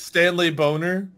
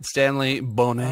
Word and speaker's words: Stanley Boner: I'm guessing Bob is Stanley Boner. It's pronounced Bonet. Ah. It's French. Stanley Bonet.